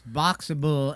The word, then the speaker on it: Boxabl: It's Boxable, and it's spelled BOXABL. So Boxable.